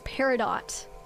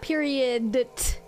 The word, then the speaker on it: peridot: Wait, I just realized I've been saying it wrong this entire time. It's peridot. Not period. My brain, oh my god, my brain swapped the O and the I. It swapped the O and the D.